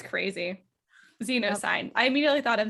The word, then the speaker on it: Zenosyne: I think it's pronounced Zenosyne. Zenosyne.